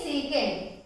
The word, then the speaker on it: sec: So pronunciation is secant, but spelling is S-E-C.